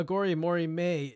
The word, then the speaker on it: Aghori Mhori Mei: Corin in an interview has clarified how to pronounce it uh agori Mory May is the 13th studio album by American rock